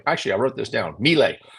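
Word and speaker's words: Milei: I wrote this down melee melee is how I pronounce his name uh they credit his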